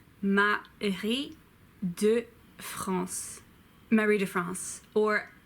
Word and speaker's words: Marie de France: wah Mahadev comes Matt I hate do pulse Marie de France or Marie de France I guess but that sounds ugly I'm swab